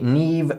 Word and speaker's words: Niamh: I'd suggest you try pronouncing these traditional Irish names. That would be Niamh, Siobhan, and Kiva.